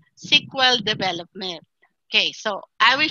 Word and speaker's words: SQL: so sequel plus is sql is pronounced as sequel Okay so sequel plus